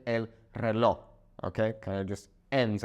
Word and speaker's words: reloj: It's weird because the word reloj kind of sounds like a K when native Spanish speakers say it, especially here in Mexico. They might sound kind of like they're saying el reloj.